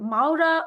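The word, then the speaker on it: Mawra: How am I pronouncing Is it Maura or Mavra? देखिए Please, नाम लफ्ज तो उसका जो नाम है मावरा है, मावरा Mavra.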